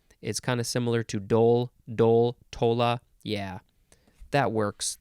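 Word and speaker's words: dhole: next word is uh well it's pronounced Dole but it looks like d-hole it's spelled d-h-o-l-e Dole noun from Circa 1827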